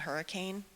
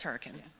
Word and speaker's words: Hurricane: So also, there's a town in West Virginia that's spelled hurricane. but it's hurricane.